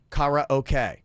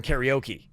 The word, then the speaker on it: karaoke: in karate and then the oke part is actually a shorter version of the Japanese word for Orchestra which is okay sue